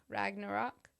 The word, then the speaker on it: Ragnarok: like there's no artag rag rag rock rock Ragnarok closer Ragnarok yeah there you go I've always